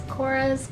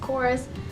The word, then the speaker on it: Korres: month is the Korres I don't know how you pronounce it it's Korres chorus the Greek yoghurt foaming